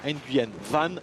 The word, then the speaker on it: Nguyen Van: Et par contre, je l'ai mal prononcé, Guillaume, c'est Laurent Nguyen Van, il y tient.